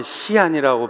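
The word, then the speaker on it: 西安: 저도 중국에 있을 때 서안, 중국말로 하면 시안이라고 발음이 되는데요, 거기에 여러 번 갔어요.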